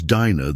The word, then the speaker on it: Dinah: Her name is Dina, though most people call her Dena now, like the world even forgot how to say it right.